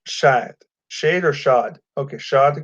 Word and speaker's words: Shahid Khan: Dad's name is Shahid Khan. Okay. It's pronounced Shad.